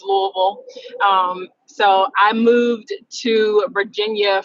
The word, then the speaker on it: Louisville: I am originally from Louisville, Kentucky, and yes, it's pronounced Louisville. It's not Louisville, Louisville. It's Louisville.